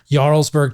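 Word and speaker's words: Jarlsberg: So, butter, cheese, especially Yarlesburg cheese. It's spelled with a J.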